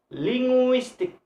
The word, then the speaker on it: linguistic: from the last one for example in word ending in a more linguistic linguistic so linguistic the stress is the second syllable linguistic so mystic have